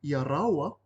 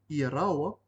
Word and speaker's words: iaraua: If you replace the word iaia with iaraua, which is spelled I-A space R-A-U-A, iaraua, this means, do you want them, as in two people.